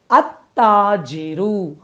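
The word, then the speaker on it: التاج: ஒரு அலிஃப் லேமை சேர்த்துக்கோங்க அப்படி சேர்க்கும்போது அந்த லாம் உச்சரிக்கப்படாம அத்தாஜி அப்படின்னு வாசிப்போம் சோ ஒரு வார்த்தை ஷம்சியா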